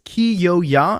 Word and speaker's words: Kyoya: so confusing for me it's ki yo ya and they said the yaw is like y'all like like that's only i don't know but they said y'all like the southern term that